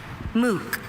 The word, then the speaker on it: MOOC: MOOC. MOOC, can you please give me the language of origin? This word is from an English phrase, MOOC. MOOC, are there any alternate pronunciations? I have just MOOC.